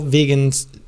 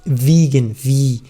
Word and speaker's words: vegan: That's all vegans are eating. Okay, be careful about the pronunciation. It's It's vegetarian, but it's vegan, vegan.